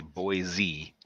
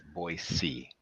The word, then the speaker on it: Boise: come out this way there is no Z in Boise there's no Z and boys people in the United States say Boise but it's boy C because it's is from